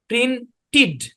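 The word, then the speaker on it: printed: আরেকটু সুন্দর ভাবে লিখি টি ই ডি যদি থাকে তাহলে এর উচ্চারণ হবে ইড হ্যাঁ তারপর যদি ডি ই ডি যদি থাকে তাহলে এর উচ্চারণ হবে ইড তাহলে এই অনুসারে আমাদের এই উচ্চারণ হবে এটার উচ্চারণ হবে এরকম প্রিন্টিড কি হবে প্রিন্টিড কিন্তু ভাইয়ের প্রশ্ন হচ্ছে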